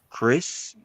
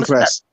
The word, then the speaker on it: Kress: He beat Nathan Chris. Nathan Kress. Okay, Chris. Because I always keep pronouncing his last name wrong.